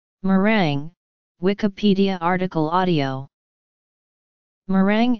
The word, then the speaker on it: meringue: morang Wikipedia article audio Morang M rang French pronunciation is a type of desert often associated